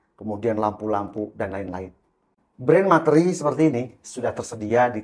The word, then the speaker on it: Materee: mereknya ini adalah materi tulisannya matate r e e ya matere Tapi bahasanya materi jadi kayak misalnya tulisan SH ya tulisannya juga shope kita bacanya shopee nah ini sama ini materi sebenarnya materi Ini